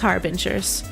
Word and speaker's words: Harbinger: I think pronounced like binge drinking. Finay. Okay. Yes. Okay. Harbingers. Binger. Like binge drinker.